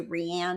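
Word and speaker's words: Riane: We spell it R-I-A-N-E because people say Rianne and stuff all the time. When she was figure skating as a little girl, she used to do competitive figure skate. They announced her name as Rianne one time, and she came out on the ice and she stomped her foot when they said her name wrong.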